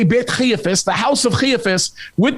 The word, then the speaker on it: Caiaphas: There's a lot of people that conflate what we say Beit Caiaphas, the house of Caiaphas, with the Antonia Fortress.